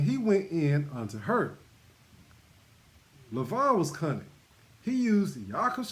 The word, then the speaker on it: Laban: And Laban, hold on a second. Let me just look at something. All right. Saying his name wrong as well. It's Lavan.